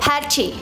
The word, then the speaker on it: Patty: - It's not pronounced Pat-tee, it's pronounced Pat-ti - Patti - Patti - Does it have to be 'Pat-ti'?